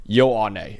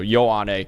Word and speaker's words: Ioane: So Ioane is how you pronounce that last name, not whatever the hell I just said when we were going over that.